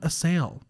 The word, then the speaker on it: Assael: recent new acquaintance of mine please welcome sam assale hi to the studio so thankful to be